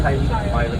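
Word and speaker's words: Haliimaile: Welcome to the town of Hailiki Maile. That's actually how it's pronounced, Hailiki Maile, guys.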